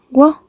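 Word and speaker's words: ㅝ: Tiene una U y tiene una O. Una O que es abierta, un poco más abierta la boca. O. Entonces sería wo, wo, wo. Recuerda, la U cerrando, pues poniendo redondo los labios, U, y la otra que es la O. Entonces es wo, wo.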